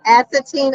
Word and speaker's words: Assateague: Assateague. Assateague Island.